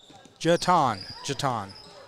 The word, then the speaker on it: Jetton: She said Jetton is pronounced Jeton.